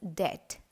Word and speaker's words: debt: that in this word this letter b is silent while pronouncing so it's correctly pronounced as det likewise the letter b